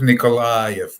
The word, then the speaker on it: Nikolayev: here on pirate tv um i i'm philip nicolai by the way nicole gotcha i need to work on my pronunciations and i don't blame you in fact